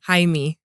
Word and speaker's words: Jaime: Jaime. His first name is Jaime? Jaime Jaquez Jr. With the J is silent.